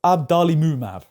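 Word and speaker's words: adalimumab: I've heard the most I believe it's pronounced abdali mumab funny name but I'll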